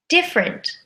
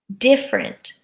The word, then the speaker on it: different: Our first group of words had silent letters, where we take a 3-syllable word and we squish it to a 2-syllable word.